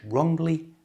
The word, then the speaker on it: wrongly: He held the brush wrongly and damaged his wrist. Remember the W is a silent.